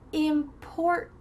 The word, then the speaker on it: important: Here we have a tricky word to start off with because we have a stop T in the middle and also at the end. So those two T's, your tongue's gonna be in that position, but you're not gonna let any air follow through.